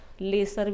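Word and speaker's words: lessee: लेसी है, लेजी नहीं है, LAZY नहीं है, ये आलसी हो, ये लेसी है।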